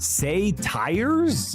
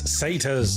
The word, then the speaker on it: satyrs: Say tires? It's satyrs.